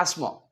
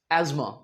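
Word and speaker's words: asthma: बट अगर आप यूएस चले जाएं अमेरिकन इंग्लिश में इसे स की बजाय अक्सर ज बोला जाता है। सो इट्स एज्मा।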